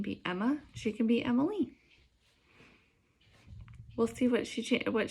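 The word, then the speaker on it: Emmaleigh: it to be um her name is emily rose but it's spell e-m-m-a-l-e-i-g-h um my middle name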